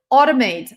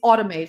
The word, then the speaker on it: automate: When you have a letter combination a and u, it always pronounces as aw, both in British and American English, by the way. Automate. Not automate. Not automate. It's automate.